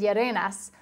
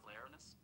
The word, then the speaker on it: Yerenas: So camera guy Ralph, his last name is Yerenas, but Siri probably doesn't really understand how to pronounce that.